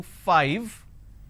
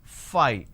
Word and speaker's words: five: pronounce that as 5 instead of saying five lot of us mispronounce this as phi this mispronunciation can lead